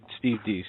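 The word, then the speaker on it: Deace: Both are authors, and Steve, how do you pronounce it? Brandon House? Steve Deese, okay.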